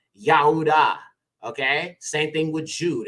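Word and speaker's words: יהודה: of uh Jacob okay so judas's name was actually yahuda okay same thing with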